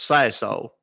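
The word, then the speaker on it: Sassohl: S A S S O H L. It's pronounced Sasso. Like I said, it's French, so don't feel bad if you can't Yeah, you can't pronounce it.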